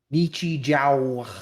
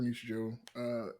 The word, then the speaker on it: Nichijou: Nichijou. Nichijou. At least that's how I pronounce it.